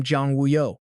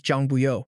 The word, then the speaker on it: Zhang Buyo: The cat blurts out the name Zhang Wuyo, but Zhang explains his actual name is Zhang Buyo, where those characters mean worry-free in their dialect. The pronunciation is similar, but the spelling is totally different.